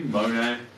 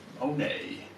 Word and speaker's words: Monet: choose one artist probably Monet oh nay I like the silent T I like the name